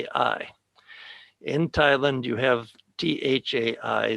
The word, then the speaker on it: Thai: in thailand you have t-h-a-i the h is an aspirated t so it's it's the same thing thai but it's spelled differently and so we came